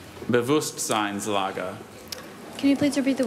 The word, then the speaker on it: Bewusstseinslage: Dieter described his son's attitude toward academic matters as an apathetic Bewusstseinslage. Can you please repeat both pronunciations?